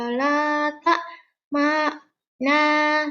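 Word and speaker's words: لا تأمنا: Coba Cinta membaca dari Qalu ya abana malaka la ta'mana la ala Yusufa wa inna lahu lanasihun. Oke ya, menekannya di sini ya. Ini adalah namanya ismam. La ta'manna membacanya menjadi la ta'mana ya. Nu-nya itu di hati.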